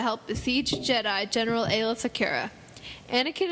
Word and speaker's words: Secura: besiege Jedi General Aayla Secura. Anakin. How do you say Sakura? Secura. They said Sakura. And I was like, Sakura. Sounds like tempura.